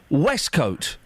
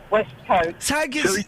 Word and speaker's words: waistcoat: It's spelt waistcoat. It's pronounced Westcoat.